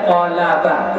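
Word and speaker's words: قلبة: rasa sakit ha ini dijelaskan Nawawiy wahiya bifathil qaf dan dianya dengan memfathahkan qaf walam dan lam wal ba dan ba almuahadah jadi cara bacanya nya qolaba. Qalaba qof lam ba itu dibiskan fathah.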